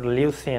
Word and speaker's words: leucine: And number 9, leucine, L-E-U-C-I-N-E, leucine, okay? Not leucine, leucine, not leucine or leucine, okay? It, the correct pronunciation is leucine.